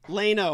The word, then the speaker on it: Leno: and you know what I was pronouncing it I kept saying Jay Leno I europeanized it and my game brother Beaver said it's it's Leno don't try and dignify